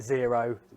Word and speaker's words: Xero: of cloud-based softwares, like Zero spelled with an X.